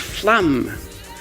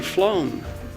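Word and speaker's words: Flåm: I thought it was pronounced flam. It's great being able to pronounce it, but how do you write it? We had a great day in Flom.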